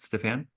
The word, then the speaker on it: Stephane: So yes, so today our guest, Stephane, is that how you pronounce it, Stephane?